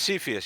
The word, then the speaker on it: Cepheus: Oh, Is that's I'd how be you in on pronounce that. it? Cepheus is great. Yeah, Okay. is it Cepheus, correct? It's Cepheus, yeah.